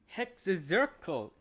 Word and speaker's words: Hexenzirkel: Hexenzirkel. So that's how you pronounce it.